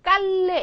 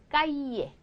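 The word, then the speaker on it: calle: 얘는 말하자면 이런 발음이에요 그래서 보세요 이거 깔래 이렇게 읽으시면 B 절대 안 돼요 까이에 이거 나라마다 굉장히 조금 여기가 발음이 달라요 그래서 예를 들어 아르헨티나 쪽 가면 얘를 더 뒤에 이래가지고 이렇게 하고요 또 어떤 때는 깔리에 깔리에서 리을 더 많이 집어넣기도 하는데 그냥 보통 일반적인 가장 정상적인 발음은 그냥 까이에 까이에 발음이 나온다고 생각하시면 되죠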